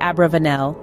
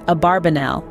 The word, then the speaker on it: Abarbanel: named Judah Abravanel lived the pronunciation of abravanel's surname has been a subject of debate while the traditional pronunciation is abarbanel modern academic literature has more commonly used Abravanel his own son Judah insisted on abarbanel and Elias LV a close contemporary twice advocated for the name abarbanel the etymology of the